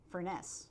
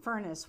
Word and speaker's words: Furness: into the trap of we grew up calling that philadelphia architect furness yeah and we all have to train ourselves to call him furnace which is what which is how he pronounced his name that's true it's hard